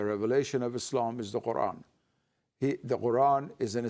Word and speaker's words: Quran: Because its Arabic pronunciation is Quran, and that sound qa does not exist in English, so it now has been changed to K, and the glottal stop